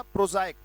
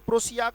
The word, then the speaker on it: prosaic: है बेटा प्रोजाइक, PROSIAC, उच्चारण क्या है इसका, प्रोजाइक। ये उच्चारण लिख लेना बेटा, नहीं तो गलत पढ़ने से कोई फायदा नहीं, वर्ड सीखा नहीं सीखा बराबर हो गया मामला। प्रोजाइक पढ़ा जाएगा, कहीं से प्रोसियाक प्रोसियाक करते रहे, इट्स प्रोजाइक।